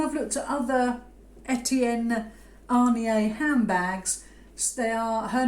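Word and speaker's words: Aigner: And it is Etienne Arnier. Or Igna, if you just said it normally. But apparently it's Arnier.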